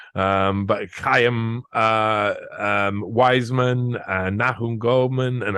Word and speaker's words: Chaim: I've always pronounced it Shaim. But Chaim Wiseman and Nahum Goldman